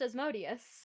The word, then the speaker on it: Asmodeus: a little off guard asmodeus yeah it's pronounced as modius asmodius America is there anything